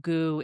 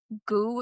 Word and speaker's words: Gu: There's a word that's pronounced identically which means drum.